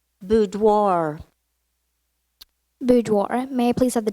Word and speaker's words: boudoir: language of origin Italian are there any alternate pronunciations Piazza Piazza P I a C Z a Piazza correct boudoir boudoir may please have the definition a woman's